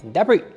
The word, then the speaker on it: debris: 下一是我们的补充单字时间。那第一个 quality 品质，那我们在前面加上 high 或 low，就是我们的高低品质的意思哦。好，接下来下一个 debris 碎片残骸。debris 这个字呢，它后面的 s 是不发音的。那么跟它的同义字还有 litter，还有 waste。下一个 choreography 舞蹈设计。下一个 botulism 肉毒杆菌中毒，是一种非常严重的食物中毒哦。下一个 centrifugal 离心力的，那我们的离心力就可以说 centrifugal force。centrifugal force 在后面加上力量，这样就可以咯。学会了吗？